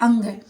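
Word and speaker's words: ङ: में यह होते हैं हमारे इसको अड़ बोल देते हैं इसका लेकिन सही उच्चारण होता है अंग उसके बाद है च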